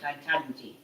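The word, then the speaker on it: Ketanji: Yes, it is Katanji.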